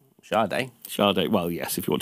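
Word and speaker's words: Sade: next story do you remember the musical artist sard Shard Shard well yes if you want to pronounce it correctly I do Shard I am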